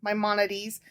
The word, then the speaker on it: Maimonides: my how do you say it my moneties maimonides and the duty of Charity I said Duty